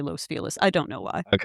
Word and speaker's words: Los Feliz: It's Los Feliz because we say it wrong.